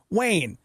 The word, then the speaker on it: Wayne: always mispronounce it and I'm just like Wayne like Bruce Wayne you know Batman how